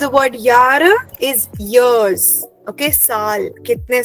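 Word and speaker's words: Jahr: the word but the meaning of the word यार is years okay साल कितने साल हो गए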